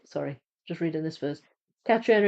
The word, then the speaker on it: Catriona: Catriona is Scots Gate. Yes, thought so. Trina is how it is often pronounced in Ireland.